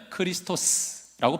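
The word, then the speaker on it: Χριστός: 이거를 이제 헬라어로 보면 크리스토스라고 발음을 하고요.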